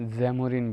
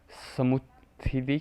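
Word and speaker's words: Samoothiri: इसको पोर्तुगीज़ जैमोरिन बोलते थे। एक्चुअल में ये मिस प्रोनाउंसिएशन थी किसकी? समुथ्री की मिस प्रोनाउंसिएशन थी जैमोरिन, पोर्तुगीज़ जैमोरिन बोलते थे, ठीक है।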